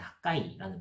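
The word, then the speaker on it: חגי: 이 학계 선지자의 이름은 이제 원래 히브리어로 정확하게는 이제 학가이라는 발음에 더 가까운데, 이는 절기를 의미하는 하그에서 파생된 단어입니다.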